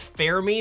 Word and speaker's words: Fermi: So, we've got Enrico Fermi, who technically I think it's pronounced Fair-Me, but it's going to be... That's an uphill battle for me.